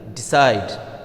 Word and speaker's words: decide: Similarly, decide, decide, decide. So, the stress will fall on the second syllable side.